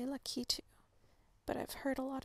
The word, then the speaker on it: Lakitu: So and I think, if I remember correctly, there's like ongoing controversy on how to pronounce the name of the creature that inhabits the clouds. I think it's more about the emphasis, on which syllable do you place emphasis.